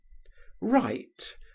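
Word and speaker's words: wight: widely different in signification, are pronounced exactly in the same manner. Write w i g ht.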